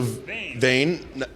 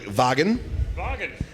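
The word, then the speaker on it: Vagn: there's one particular word one of the first ones I came up with was the word V a GN who could think of multiple ways to pronounce that word all right so vain no all right so like like Vagan Vagan is pretty close to wagon but also in the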